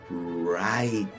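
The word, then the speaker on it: write: que se escribe urite pero fíjense como la W es muda y nos quedan acá dos sílabas la e es muda al final pero la primera es una sílaba abierta que termina en vocal entonces tiene el sonido abierto de la i y decimos right right otro patrón son las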